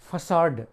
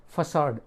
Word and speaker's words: facade: दूसरा वर्ड है FACADE, फसाड। इसका प्रोनाउंसिएशन क्या है? फसाड।